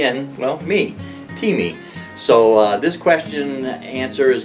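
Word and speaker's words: Thieme: is pronounced teeth me like in a cup of tea and well me t me so this question answer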